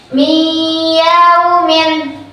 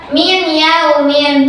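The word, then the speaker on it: مِنْ يَوْمٍ: Contoh, miyaumin. Miyaumin harus dimasukkan, jangan baca min yaumin, itu salah, atau min yaumin, itu salah ya, tapi harus dimasukkan ke huruf ya.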